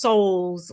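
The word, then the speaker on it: Sowles: It's It's always been 26 and the address is 26 Souls Avenue, but Souls is spelled S O W L E S, but it's pronounced Souls like S O U Ls.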